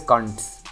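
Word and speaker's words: Koontz: It's by this author called Dean Kuntz, or I don't know how it's spelled, the last name. So that Cunt. yeah, exactly. It's Koonts, but it's pronounced as Kunts.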